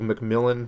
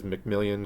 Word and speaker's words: McMillon: We were recently talking about the Walmart CEO, Doug McMillon, which I was pronouncing as McMillion because you just can't help yourself, said that consumer spending